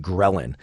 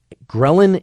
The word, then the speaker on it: ghrelin: you get hungry at all and it's called ghrelin it's spelled g-h-r-e-l-i-n relin is released actually from the GI tract and